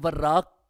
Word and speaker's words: وراق: نے یہ سمجھا کہ وراق کا جو تلفظ ہے، اعراب ہے، وہ ہے واو کے فتحہ کے ساتھ اور را مشددہ، وراق۔ اور دوسرا نسبت ہم